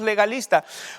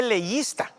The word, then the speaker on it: legalista: es muy leísta pero no se dice leísta se dice legalista de ley si vas